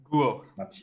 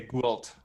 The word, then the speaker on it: Guo: Guo. Guo. But most people who don't know how to pronounce my name, they say Gualt. And Gwalt. yeah, but the L and T they are silent, so Can I call you Gwalt.